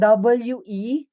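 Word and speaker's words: 왜: Yung nasa W-A-E po, how do we pronounce it? We. We. We. Medyo mahaba. Tapos nanggagaling yung initial sound ng bibig nyo sa O.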